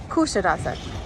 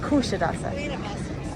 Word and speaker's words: Kuşadası: Kuşadası, and in Turkey, and then we went and toured the ancient city of Ephesus, and this is Kuşadası Harbor. I said it wrong again. Kuşadası.